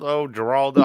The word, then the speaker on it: Geraldo: All right, so what's up, Geraldo? I don't know what the fuck you want me to call Yeah, you. that's how you say it. You said it right the first time.